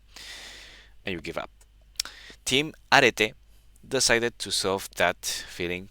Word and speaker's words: Arete: Arete is a Greek concept pronounced Arete.